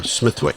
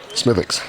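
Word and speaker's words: Smithwick's: I hope um uh Smithwick SMI that's not how you pronounce it smithx smithx so uh it was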